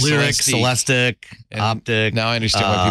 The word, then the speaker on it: Celestiq: It is a Cadillac, and it's pronounced Celestic. Celestic. Not Celestique.